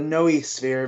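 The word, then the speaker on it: noosphere: I looked it up it's no no no sphere or the Noe sphere because it's it's three syllables I know that much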